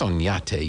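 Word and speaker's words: Oñate: you turn right on Onate. Onate? How do you spell that? Onate. I said, that's Onyate, you dumb Texan.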